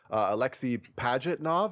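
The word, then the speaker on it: Alexey Pajitnov: are talking interesting factoids about Tetris, the creator, Alexei Pajitnov, I believe is how you say his name,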